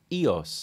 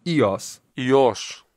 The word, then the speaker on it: EOS: do you pronounce it Yas and the modern Greek way of pronouncing it would be with a bit of a step up on the second syllable so Yas Yas and I say modern